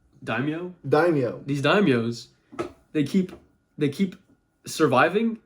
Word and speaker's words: daimyo: These dynamos That's not the name, first of all. It's you said it right the first time. What did I say? Daimyo? Daimyo.